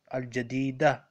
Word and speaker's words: الجديدة: marbuta at the end, it is not pronounced like ta, it is pronounced like ha. Ta marbuta. Al-jadida.